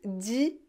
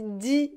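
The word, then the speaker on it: dix: On prononce 10 juillet. On ne prononce pas le S final, le X final. On dit 10 juillet.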